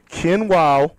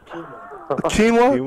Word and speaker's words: quinoa: really disturbing to hear me see say that kin wow tilapia even know if I'm pronouncing that properly quinoa quinoa quinoa okay quinoa quinoa okay so we